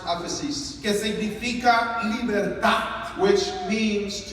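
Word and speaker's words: ἄφεσις: viene del griego de una palabra que se pronuncia aphesis, this word comes from a Greek word that is pronounced aphesis, que significa libertad.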